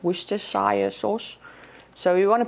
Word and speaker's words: Worcestershire: you pronounce this i'm i'm going to say worcester sauce i know that's wrong i think it has four syllables worcestershire sauce so you want